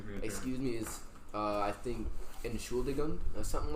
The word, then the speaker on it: Entschuldigung: Excuse me is I think Entschuldigung or something like that. Entschuldigung.